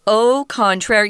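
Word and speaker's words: au contraire: is French and it means the same thing o contrary you'll see it actually and hear it in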